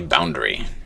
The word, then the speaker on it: boundary: is exciting a boundary we don't really pronounce the a in that second or that a in boundary 2a we say boundary instead of boundary it would sound it sounds silly if you say boundary boundary is shouldn't be